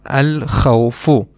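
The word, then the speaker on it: الخوف: We pronounce the lam because kha, this letter is one of the moon letters, and we just learned that when we have a moon letter after the alif lam, we will pronounce the lam. That is why we will pronounce the lam, al-khawfu.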